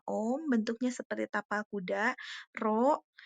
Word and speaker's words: rho: bentuknya seperti tapal kuda, Rho yang bentuknya seperti huruf P, tapi tidak P juga ya, itu dibacanya Rho, itu adalah hambatan jenis